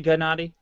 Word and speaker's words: Gennady: And when I say it's Gennady, right? You can say it either way. The Russian name has the hard G sound. So it's okay if I say Gennady?